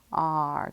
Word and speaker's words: are: Are, good. It sounds like it just be the A-R-R, car sound, but we have that silent E there.